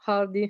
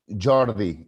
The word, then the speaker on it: Jordi: Well, by the way, my name is Jordi in Catalan.